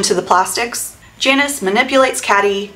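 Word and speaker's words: Cady: the Plastics Janice manipulates caddy it's pronounced like Katie into infiltrating their group to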